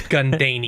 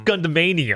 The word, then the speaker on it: Gundanium: That's Gundanium. That's Gundemanium. That's Gundanium, you fucking idiot.